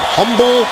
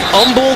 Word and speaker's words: Humble: Four battle now in his fifth year from Houston out of Humble, Texas. Humble. The H is silent, my friend.